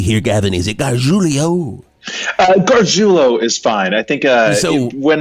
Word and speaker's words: Garjulo: I think when my dad, my great grandfather came from Italy, he probably would have said Garjulio, but we just Garjulo for us. Garjulio. So it does not rhyme with Coolio.